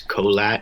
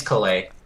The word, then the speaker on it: Caillat: I thought it was Colat, not Caillat. Oh, okay. Colbie Caillat. Colbie Caillat. Caillat. Fucking. I'm not gonna be able to say that right ever again. It's Caillat.